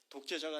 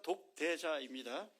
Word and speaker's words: 독대자: 제가이 발음을 하다 보니 자꾸 독재자라고 이렇게 독재자가 아니라 독대자입니다.